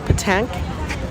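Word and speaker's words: pétanque: Over here they play, I don't know how to pronounce that. It's called petanque.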